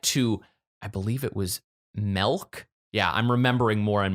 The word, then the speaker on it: Melk: So they arrived in this small town of Melk, and which is how some people pronounce the word milk, the stuff that comes from a cow.